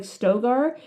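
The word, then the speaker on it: Stilgar: still guard still guard stillar yeah he's the leader of the every time anyone says his name they they don't pronounce the L they call him like stoar and so the whole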